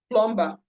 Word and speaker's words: plumber: like when they want to pronounce the word plumber. Instead of pronouncing plumber, they always pronounce plumber.